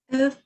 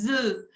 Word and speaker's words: œufs: Œufs sur les plats. Parfait. Répétez après moi pour la prononciation. On dit des œufs. Non se prononce la F en plural.